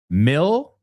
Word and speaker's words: mill: All right, so the first word, mill, dilo conmigo en voz alta, rhymes with drill.